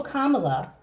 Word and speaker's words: Kamala: uh will oh no Kamala I learned how to say it Kama like a k La okay will Kamala will she be the